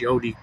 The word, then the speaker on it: Gad: Gad is pronounced God. Gad is pronounced God in Hebrew.